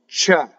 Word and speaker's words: c'è: So open E. It's like the E in head without the glide. So in English, I say head, and I slowly change to an I. In Italian, you just stay.